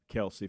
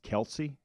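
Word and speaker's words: Kelce: comes to that family Kelsey family yeah something about their name and evidently everybody has been pronouncing their name incorrectly that it's not actually pronounced Kelsey it's like Kel's or something different okay it doesn't even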